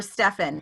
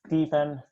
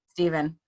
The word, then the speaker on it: Stephen: Steven or Stefan? Which one is it? Correct me. That's Stephen. Steven, hit Yeah.